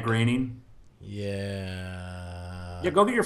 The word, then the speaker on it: Groening: Because like Matt Groening is actually Matt Groening.